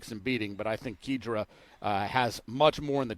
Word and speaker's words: Kijira: And I guess they say it Kijira, and Travis Stone is diligent with pronunciations. That seems to be the way he's saying it.